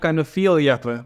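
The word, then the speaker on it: fierljeppen: in the Dutch tradition of canal jumping, or vierjappen. Did I just pronounce that right? Yeah, kind of vierjappen, we say.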